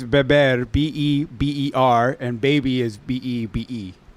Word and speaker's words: beber: Yeah, well, to drink is beber, B-E-B-E-R, and baby is B-E-B-E.